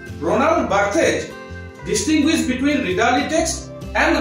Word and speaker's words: Roland Barthes: তিনি হলেন ফ্রেঞ্চ, এটা French pronunciation, রোনাল্ড বার্থ in English.